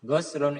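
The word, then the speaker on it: غَسْل: Biasanya kalau bacanya gin dibaca dah guslun itu biasanya mandi. Tapi kalau biasanya dibaca fatkhah goslun itu artinya membasuh.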